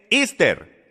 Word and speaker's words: Esther: historia sabía usted que la manera de pronunciar y estar en inglés es esther así es por eso